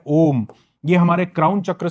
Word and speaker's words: ओम: इसके बाद आता है ओम। अम भी बोलते हैं। अ उ ऊ म का का भी उच्चारण बोलते हैं।